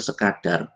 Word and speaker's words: sekadar: Yang benar sekadar. Sekadar. Jadi kadar itu ukuran. Jadi seukuran dua ketukan bukan bukan sekedar ya ini salah kata ini enggak ada dalam bahasa Indonesia sekadar dua ketukan.